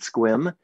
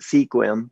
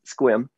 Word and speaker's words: Sequim: It's called Squim. Most people look at that name and they pronounce it Sequim, but it's Squim.